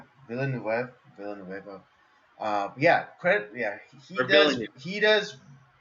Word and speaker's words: Villeneuve: Denis Villeneuve. Villeneuve.